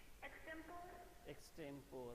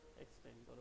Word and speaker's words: extempore: Extempore, okay. Now I'll tell you, it is not extempore, it is extempore. Its pronunciation is extempore.